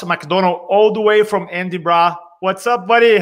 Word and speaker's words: Edinburgh: Is my pronunciation okay, Edinburgh? It's doing okay, right? You're doing well.